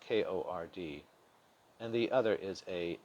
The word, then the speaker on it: chord: of the circle one type is the chord pronounced kord and the other is a secant a secant